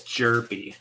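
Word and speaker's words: Hjerpe: All right, it's Jerpy, you guys. Cooper Jerpy. Oh, okay. I don't care. His name is now Herpy. I'm sure he's never Cooper gotten that before. Jerpy. So the H is silent.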